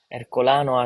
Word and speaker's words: Ercolano: Ercolano as we pronounce in Italian.